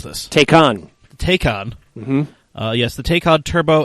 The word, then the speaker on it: Taycan: something yeah anyway the Porsche how do we pronounce this take on take on yes the take HOD turbo and Turbo S